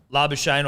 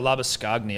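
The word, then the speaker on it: Labuschagne: how you pronounce it if we just go labor shane the c or the h is silent and the g is silent the c and g you can spell it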